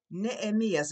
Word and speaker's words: Nehemías: In Spanish, you don't pronounce H, okay? Can I say Nehemías? It's Nehemías, okay?